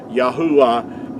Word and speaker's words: Yahweh: Yahweh is the way that our creator's name is pronounced.